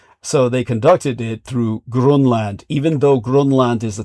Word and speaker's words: Grönland: It's where they used to, for decades, they would trade with the breakaway civilization of Unterland through Grönland, as it's correctly pronounced as Grunland.